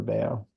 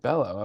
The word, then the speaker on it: Bello: Well, who is your over 50 person that pronounces it at Bello? Probably there's a lot of people that think it's Bello.